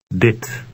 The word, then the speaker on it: dit: It has a short I sound that resembles the one in the English word hit. Read 13. Dit.